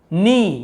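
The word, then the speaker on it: knee: नहीं पढ़ रहे, क्योंकि के यहाँ पे साइलेंट होता है, हम यहाँ पे जो के लिखा हुआ है ना इसे हम नहीं पढ़ते हैं, केवल ये नी को पढ़ते हैं, लेकिन लिखते समय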